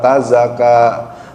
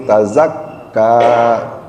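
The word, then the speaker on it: تزكى: Ingat ada tasjid di dalam huruf K. Tazakka. Jadi bukan tazaka, tapi tazakka.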